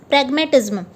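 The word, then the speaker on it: pragmatism: सो इसका प्रोनाउंसिएशन होगा प्रैग मोह टी और ZM.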